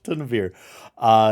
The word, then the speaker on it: Tunavir: That is actually his name. I've been saying it wrong for 7 days straight. It's Tunavir is his name, but he had sent